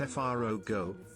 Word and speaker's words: Frogo: Please pronounce it Frogo, as a callback to Frodo.